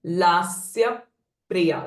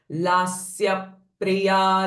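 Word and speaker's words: लास्यप्रिया: ना देन लास्य प्रिया सो नवर द प्र sound com in Sanskrit it's pressing effect while pronounce the pressing effect before pronounce the प्र sound लास्य प्रिया so lips are literally pressed against each other लास प्रिया लयक लज्जा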